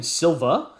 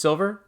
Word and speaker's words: Silver: What, am I mispronouncing his name? You're calling him Silva? Is that no? What have Silver. it's just Silver?